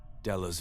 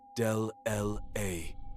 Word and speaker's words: Della: Perfect down to the slight lisp on his S's, the way he said her name with too much emphasis on the second syllable. Del-L-A, instead of Della.